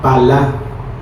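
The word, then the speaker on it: פלא: Maravillas es la palabra hebrea 6381 y es la palabra palá, con acento en la palá.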